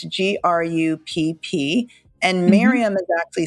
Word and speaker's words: Grupp: Yeah, in like German pronounce, it's Grupp. It's like group, but the German way. So it's with a short U, so Mirjam Grupp?